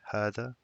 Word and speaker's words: هذا: It's called it's pronounced as hada.